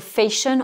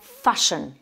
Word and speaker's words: fashion: qu'on choisit, la mode, on ne va pas dire fashion, on va dire fashion. Donc là c'est un A qu'on prononce A, un A ouvert, mais pas le son, mais surtout pas le son A.